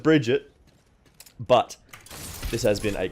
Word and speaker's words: Brigitte: I'm gonna call her Bridget there's pre-k that sounds it's a Swedish name it's not something that I am massively familiar with so I'm gonna go with Bridget but this has been